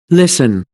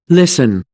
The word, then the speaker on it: listen: antique, antique, Agora, existem algumas palavras que, independentemente de sotaque, estas palavras possuem o T mudo. Então, este T aqui não será pronunciado nunca, independentemente do sotaque da pessoa. E não existe regra para isso, você apenas tem que aprender estas palavras.